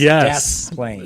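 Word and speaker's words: Des Plaines: And they pronounce the S. It's Desplain.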